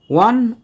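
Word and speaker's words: one: হচ্ছে কিনা ওয়া এখানে ও এর উচ্চারণটা হচ্ছে ওয়া মানে ডব্লিউ কনসোনেন্ট সাউন্ড তাহলে এখানে ভাওয়েল থাকলেও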